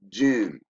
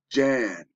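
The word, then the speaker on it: Jann: taught to call him gin I hope you're understanding this we this is America when we got false everything okay they pronounce it gin it's Jan like January he created the Jan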